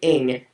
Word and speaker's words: Ng: even different to spell it's actually n g Gregory ing n g um he's got a